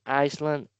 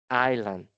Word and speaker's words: island: So if you're saying Iceland is incorrect you are wrong. It's incorrect. What is the correct manner? What is the correct way to do it? Island. Island. meaning that the S sound is muted. Is not necessary. We will never be using the the S sound in this word.